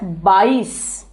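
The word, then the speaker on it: बाईस: 22 is said as bais.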